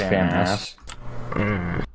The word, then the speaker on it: FAMAS: How did you just form with a famas? One is pushing. I'm just good. It's pronounced famas.